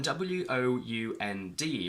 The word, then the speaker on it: wound: When W-O-U-N-D refers to injury, we say wound, but it's also the past of the verb wind, which becomes wind, wound, wound.